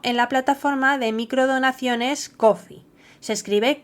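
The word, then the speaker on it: Ko-fi: Igualmente, podéis invitarme a un café virtual para mostrar vuestro apoyo en la plataforma de microdonaciones Coffee. Se escribe K o FI.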